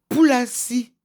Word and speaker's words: Foulassi: En étonne, le F n'est pas prononcé. Le F, c'est le peu, comme l'avait dit un comédien. remplace feu. Donc, Poulassi, pour ceux qui savent,